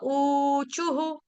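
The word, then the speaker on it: ऊचुः: है चू विसर्ग छोड़ने विसर्ग से पहले हमारा शब्द है छू इसीलिए क्या हो जाएगा वहां पे विसर्ग का उच्चारण हम करेंगे हु ख और छोटा उ गोप्य उचुहु कैमरा ऑन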